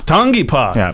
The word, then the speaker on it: Tangipa: Tang tangap thank you for joining us tongi tongi PA so see you've been saying it right T